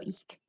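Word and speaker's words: Ik': So, and Ich is which it's spelled IK apostrophe, so Ich.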